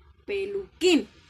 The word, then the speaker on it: peluquín: Algunas sílabas llevan tilde, como es el caso de peluquín, que es un signo que se escribe siempre sobre vocales, nunca sobre consonantes. Entonces, en el caso de peluquín, la tilde en la I hace que suene más fuerte y la hace sílaba tónica.